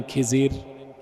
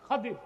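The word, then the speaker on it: الخضر: আলেম আছে আমার দুনিয়ায় আমার বান্দা তার নাম খাদির খাদির তো বুঝেন নাই আপনারা যাকে বলেন খিজির নামটা কি খাদির বিফাতলখাদ এটারে বক্তারা বলে খিজির তো জনগণ বলে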